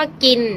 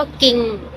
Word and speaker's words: กิน: เช่น อย่าง เช่น ค่ะ อย่าง เช่น คำ ว่า กิน นะ คะ ก อิน กิน นะ คะ นัก เรียน มุสลิม ส่วน ใหญ่ จะ พูด คำ ว่า เป็น คำ ว่า กิง ซึ่ง จะ กลาย เป็น ง งู สะกด นะ คะ อ่า หรือ